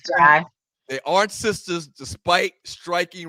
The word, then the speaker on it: Jai: Tisha Campbell and Paula Jai Parker, I think is the way she pronounced it. It's Jai.